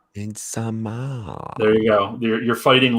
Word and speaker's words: Midsommar: Midsommar, it's Swedish, not Midsommar. Midsommar.